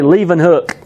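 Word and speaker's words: Leeuwenhoek: that the picture is up there yep you pronounce his name Anton one leaving hook okay Lee one hook but himself we say leaving hook Anton bond leaving hook but he used you're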